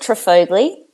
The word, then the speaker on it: Trifogli: name I pronounce it trogley Tri yeah yeah just as it's spelt I will get many